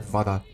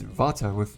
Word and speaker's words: Vata: It's not Vada. It's Vata without an R.